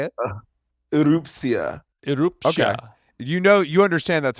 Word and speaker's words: Erupcja: Erupcja. Erupcja. Okay. You understand that's hard to pronounce, obviously, for us, the uninitiated.